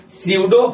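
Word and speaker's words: pseudo: हैं सडो first order P से ही शुरू होता है सडो फर्स्ट पी साइलेंट रहता है देखिए एक बात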